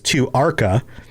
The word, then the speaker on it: Tu'whacca: And it where it shows the pronunciation here is Tu' Archa.